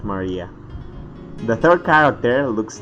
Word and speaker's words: Maria: written moon runs of course moon runs is pronounced Maria the third character looks like a cross which